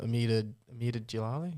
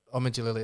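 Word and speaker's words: Omid Djalili: I think that was a TV advert once, like back in the 2000s with the comedian Amida Jalali. Is that how you say it? I'm not sure. Omid Jalali, there you go.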